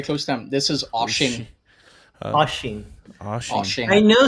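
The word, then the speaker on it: Oisín: I mean, Oisin. Okay. I don't know. Oisin. Oh, no, that's very close to him. This is Oshin.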